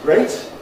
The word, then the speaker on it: great: Great is great, rhymes with state.